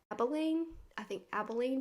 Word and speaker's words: Abilene: Another incident, in 1996, Brian Bethel, who was a Texas reporter, encountered the black-eyed children in Abilene, Texas is how you say it.